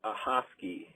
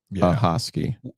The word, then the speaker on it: Ahoskie: Hey, I heard y'all talking about towns that you can't pronounce, and I think you were trying to say Ahoskie.